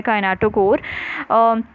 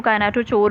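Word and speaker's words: kinetochore: दरमियान में सेंट्रोमियर है, और सेंट्रोमियर के भी दरमियान में एक प्रोटीन होता है काइनेटोकोर। कुछ लोग इसको काइनेटोचोर भी प्रोनाउंस करते हैं, आपकी मर्ज़ी है किस तरह से भी आप प्रोनाउंस करना चाहते हैं।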